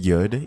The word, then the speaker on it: yud: to the astrological signs each y is pronounced yud each h is pronounced